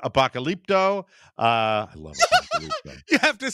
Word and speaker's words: Apocalypto: I love Apocalypto. You have to say it right, Mike. Apocalypto.